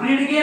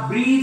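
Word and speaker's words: bridge: D silent जी एज हा ब्रीडगे नाही हा ब्रीज आहे काय आहे ब्रीज काय आहे ब्रीज बघा या डी चा उच्चार होत नाही याठिकाणी हा हेडगे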